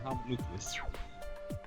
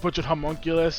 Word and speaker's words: homunculus: Oh, it's a homonucleus. Anything that stops bullshit is okay in my book. No, it's because freaking the way you pronounced it. Remember, you butchered homunculus instead of homonucleus.